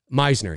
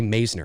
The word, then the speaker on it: Meisner: just one second here Meisner that's right Meisner I've heard people say Messner and I'm like that's not amazing Meisner yeah listen I was